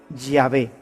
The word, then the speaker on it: Yahvé: De manera que yo soy el que soy, se pronunciaría o se diría Yahvé. Yahvé te envía. Así es como habría sonado en hebreo antiguo lo que Dios le